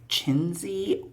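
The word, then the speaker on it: Czenzi: published in 1954 by a writer named named chiny orand chiny spelled CZ n z i orand you can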